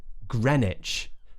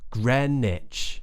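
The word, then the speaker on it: Greenwich: people is this one which looks like green witch but it's actually Grenich Grenich Grenich how about then words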